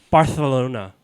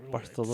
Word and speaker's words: Barcelona: So the C is like silent. So you or? have to have a Well, lisp. if you're saying in gotta yeah, have you the do, lisp. you do. That's part of That's the weird. Catalonian That's language. the Oh, first okay, time okay. I've It's heard. Barcelona. Honestly, that's the first time I ever heard this. Yeah, that's that's crazy. Barcelona. That's the Barcelona. technically the correct way.